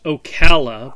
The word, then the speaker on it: Ocala: four four eight oh right yes actually it's pronounced ocala but that's okay okay and along with that